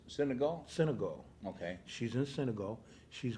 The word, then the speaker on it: Senegal: She's in Senegal, is that how it's pronounced? Senegal? Senegal.